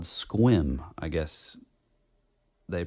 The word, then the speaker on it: Sequim: was come to find out that it's called squim. I guess they pronounce it squim.